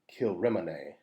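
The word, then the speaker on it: Kilrymont: looks like it's spelled kill ramont but it's pronounced kilrimine which means church of the king's mount there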